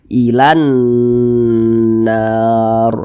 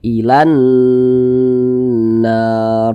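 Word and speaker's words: إلى النار: Nah, makanya huruf lamnya ini kan dia tidak dibaca nih, langsung masuk ke huruf yang di depannya nih, langsung masuk ke huruf yang setelahnya. Makanya dibaca ilan nar begitu, ilan nar.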